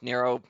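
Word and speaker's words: Nrvnqsr: But his name is somehow pronounced Narrow or spelled spelled like narrow narrow but it's spelled as just like N and then key smashes.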